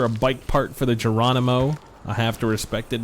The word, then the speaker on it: Geronimo: So this is for a bike part for the Geronimo. I have to respect it because it uses a soft G.